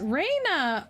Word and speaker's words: Ranna: because it came up the game never said how Ranna is pronounced and I pronounce it as Raina oh oh I see